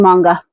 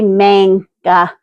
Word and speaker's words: manga: Fun fact, a different friend of mine reprimanded me on mispronouncing manga. I called it a manga instead of a manga.